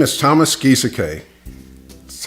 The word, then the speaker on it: Gieseke: My name is Thomas Gieseke. That's how you pronounce it, Gieseke.